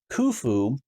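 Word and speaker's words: Khufu: and I realized that kufu from what I'm understanding is closer to the Original Egyptian pronunciation and chops or chops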